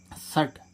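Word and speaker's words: shut: means ऐसा ऐसे ही देखें इसमें सट एस एच यू टी सट सट सट मींस क्या होता है बंद अब इसमें देखें एच एच क्या है कंसोनेंट और टीवी क्या है कंसोनेंट अब इन दोनों कॉन्सोनेंट के बीच में क्या आ रहा है यू हमने रूल क्या पढ़ा है दो कंसोनेंट यानी दो व्यंजनों के बीच में य आए तो उसका उच्चारण क्या होता है आ होता है ठीक है गा ऐसे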